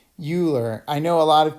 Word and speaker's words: Euler: point this procedure is known as euler's method euler's method is developed by the famous mathematician euler and his name is not pronounced euler i know a lot of people are familiar